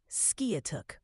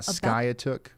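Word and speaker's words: Skiatook: I saying that right it's pronounced skuk Ryan are you sure it's not skook yep I'm sure it's skuk not skyk local knowledge my friend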